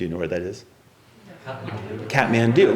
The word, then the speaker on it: Kathmandu: Kathmandu, right. And of course I was like, that's not Katomanzu, that's Kathmandu.